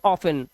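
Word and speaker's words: often: इसे पढ़ते हैं ऑफिन। ऑफिन में भी हमारा टी साइलेंट है। लेकिन इस वर्ड में एक अपवाद है कि इसको आप ऑफिन भी पढ़ते हैं। मतलब इसका टी पढ़ा भी जाता है।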